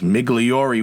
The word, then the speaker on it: Migliori: their name last week I forgot the e at the end I didn't pronounce it the long way it's migliori which can it considering